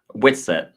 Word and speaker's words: Whitsett: Whitsett.